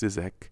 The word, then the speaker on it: ZZK: Around that same time, I started hearing about a record label in Argentina called Zizek, spelled ZZK but pronounced Zizek, and what this label was doing was called digital cumbia.